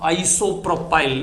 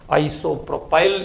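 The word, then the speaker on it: isopropyl: आपको ch3 ch3 स but this is pronounced as आइसो प्रोपाल इसको आइसो प्रोपाल कहते हैं ये ध्यान में रखना है this is pronounced S आइसोप्रो पाइल इसको आइसोप्रो पाइल ग्रुप कहते हैं ये बात हमको ध्यान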